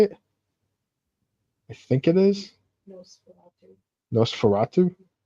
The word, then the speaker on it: Nosferatu: Nesfartu. The remake is coming out in like December, like Christmas Day, I think. That vampire movie remake. Did you see that? No. Is it Nesfarto?